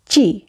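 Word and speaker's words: ci: ইংলিশে আমরা সিকে সি উচ্চারণ করি, কিন্তু ইটালিয়ান বর্ণমালার ক্ষেত্রে আমরা উচ্চারণ করব চয়ের মতো করে, অর্থাৎ আমরা উচ্চারণ করব চি। ঠিক বাংলা চ যেভাবে উচ্চারণ করি সেভাবে, চয় রসিকারে চি চি।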